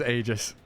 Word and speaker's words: Aegis: for putting into Canon the pronunciation of Aegis is Aegis bless him all right you can change Greek words all right okay that's